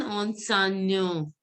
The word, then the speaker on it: enseignant: This will be, male teacher is pronounced as an enseignant.